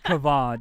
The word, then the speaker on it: Kavan: I said it's basically Gavin, but with a K. Oh my god. I'm so sorry, dude. Wait, you're hold fine. on. No, you're fine. The way you pronounce Come on. Kavan, yeah.